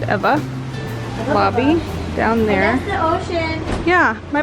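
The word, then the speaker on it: Ewa: It's spelled E-W-A, but you pronounce it Eva.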